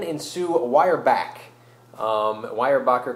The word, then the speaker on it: Weyerbacher: triple style l now wire backer uh brewing founded in 1995 by dan and sue wire back um wire backer coming from the original pronunciation of their ancestors names 200 years ago in germany and they converted an